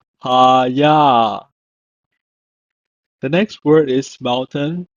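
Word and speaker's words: הָיָה: It's pronounced as Hayah. Hayah.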